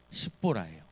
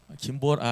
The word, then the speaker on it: 십보라: 어 발음 잘해야 될 것 같아. 옷의 원래 부인의 이름은 십보라예요. 김보라 아니고 십 죄송합니다.